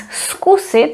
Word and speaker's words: zkusit: And the following one is skusit, where we pronounce it as s, skusit.